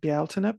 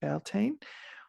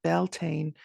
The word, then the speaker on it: Bealtaine: I get a lot of pushback around Bealtaine because in Scotland they do say it Beltane, but if you are working within a so-called Celtic tradition, most often the Beltane pronunciation is actually an anglicized version because people can't say Bealtaine or don't want to say Bealtaine because it has too